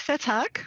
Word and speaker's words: Vethaak: You're going to help me with pronunciation on his last name, Dick Vetak. Is that how he says it? Yep, very close. Vetak.